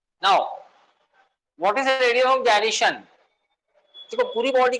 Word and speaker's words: gyration: कुछ लोग इसको गायरेशन बोलते हैं, कुछ लोग इसको जायरेशन बोलते हैं। एक्चुअल प्रोनाउंसिएशन जो है that is जायरेशन, radius of जायरेशन।